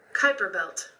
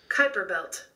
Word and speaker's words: Kuiper belt: mates the end right I'm trying to figure out how to say this so we can end this Piper Kuiper belt oh you were away off well why is there a you then you know I mean Kuiper belt creepy clapping I think